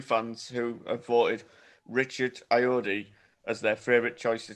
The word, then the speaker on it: Ayoade: Richard Ayoade.